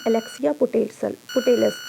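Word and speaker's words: Alexia Putellas: तो उनका नाम है अलेक्सिया पुटेलस। अलेक्सिया, मैं लिख दे रही हूँ ताकि प्रोनाउंसिएशन भी आपको क्लियर हो जाए। अलेक्सिया पुटेलस।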